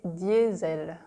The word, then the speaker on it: diesel: brand name diesel diesel in French we say diesel diesel diesel the S is pronounced Z in French because it's between two vowels diesel yes ed so